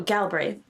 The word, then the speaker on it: Galbraith: how do you say your last name oh galbraith galbraith galbraith so galbraith do you want